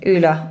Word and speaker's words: Ulla: It's Ulla. I checked the pronunciation.